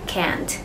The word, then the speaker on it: can't: Vậy nên cái từ can't sẽ được đọc dài hơn và rõ hơn. Chốt lại, từ này đọc là can, còn từ này đọc là can't.